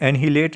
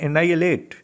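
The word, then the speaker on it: annihilate: एनाइलेट कहते हैं, ये एनहिलेट नहीं, इसकी प्रोनाउंसिएशन है एनाइलेट।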